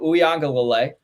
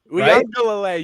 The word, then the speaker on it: Uiagalelei: that they have to go up against Mateo Uiagalelei. Uiagalelei, you got it there.